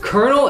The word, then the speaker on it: colonel: no no cuz dude Colonel it it's spelled col I know it's pronounced Colonel but I always forget